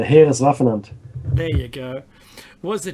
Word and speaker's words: Heereswaffenamt: Professor Walter Gerlach, who headed Tor for Heeres es Waffenmacht, I can't say. What's that actually pronounced, Meki? It's the Heereswaffenamt.